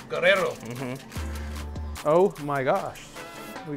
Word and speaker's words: Guerrero: Can you please, you need to roll your R's, okay? Guerrero.